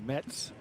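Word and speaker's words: Mezz: the United States he tells me it's actually pronounced Mets Mets Mets but we'll go with mez since that's what everyone knows and Rodney Morris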